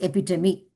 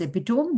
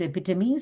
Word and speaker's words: epitome: It is epitome. Someone pronounced this as epitome. The pronunciation is epitome.